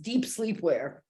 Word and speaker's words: Dep Slepwear: But whatever, it's pronounced deep sleepwear.